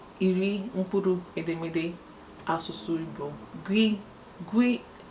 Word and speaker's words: gw: Gwi a na-ede ya GW n'asụsụ Bekee, pronounced as gwi, as GWEE.